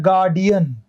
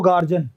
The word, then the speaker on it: guardian: अच्छा देखो, ये होता है गार्डियन, गार्डियन, कई लोग बोलते हैं इसको गार्जन, GUARDIAN, ये गार्जन नहीं होगा, ये क्या होगा दोस्तों? गार्डियन, गार्डियन, गार्ड से बना गार्डियन, तो ये गार्जन नहीं होता, गार्जिन नहीं होता, ये गार्डियन होता है।